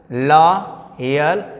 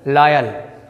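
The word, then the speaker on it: loyal: य क्या हो जाएगा ल यल ल क्या हो जाएगा लॉयल ठीक है लोयल नहीं लॉयल लायल आप पढ़ रहे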